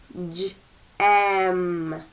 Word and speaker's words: gem: Now this has the soft G at the beginning. What does soft G sound like? J. Good. So let's say it using the J sound. Here we go. Gem.